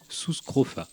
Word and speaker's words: Sus scrofa: Aujourd'hui une vidéo un peu spéciale puisqu'elle est dédiée à une seule espèce Sus scrofa son nom scientifique. Le U se prononce ou en latin, c'est quand même plus classe.